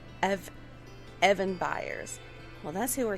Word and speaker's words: Eben: me sharing the knowledge his name is evan and it's spelled e-b-e-n and it's short for ebenezer he was born into